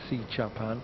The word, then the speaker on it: Srichaphan: And it does confirm that the correct pronunciation of the surname is Srichaphan, not within an R. Leave the R out of it, but Paradorn,